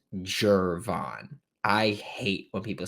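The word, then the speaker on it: Gervon: pick also to make it abundantly clear it's pronounced jervon I hate when people say gurban I hate when people mispronounce Florida Gators names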